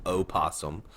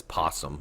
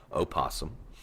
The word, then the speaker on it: opossum: continent we have the opossum and by the way it is pronounced opossum there is an o in front of the P everybody always says possum but it is pronounced opossum and of course they